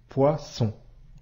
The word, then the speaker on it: poisson: nous venons de voir il suffit de doubler le S poisson ici le double s entre deux voyelle i ou o se prononce bien comme le son ce autre exemple cousin ici